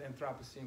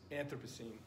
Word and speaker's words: Anthropocene: It's also pronounced, I pronounce it Anthropocene, but others pronounce it Anthropocene. Yeah. Yeah. And Nick Cave pronounces it Anthropocene.